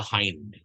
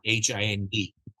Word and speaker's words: Hind: his name is Arthur hind spelled h i n d and I written over there in Brackets not as in J hind not that pronunce Arthur hind right this